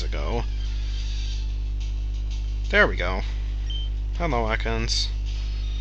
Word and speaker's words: Ekans: there we go hello Atkins or Eakins no it should not be pronounced Eakins has a very big